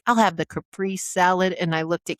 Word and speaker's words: Caprese: Number 7 is, Caprice. Caprese. Caprese. Caprese. It's Italian. It's a tomato mozzarella salad. It is not a caprice. The final E is pronounced Z. Caprese.